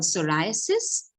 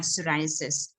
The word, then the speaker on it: psoriasis: It's called psoriasis. This is not to be mistaken for cirrhosis. A lot of people pronounce this as cirrhosis.